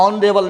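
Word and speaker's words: honorable: ऑनरेबल you know very well, ऑनरेबल एच से प्रारंभ हुआ है गाइज, लेकिन एच यहाँ पर साइलेंट रहता है और इसका जो उच्चारण निकलता है ऑनरेबल निकलता है।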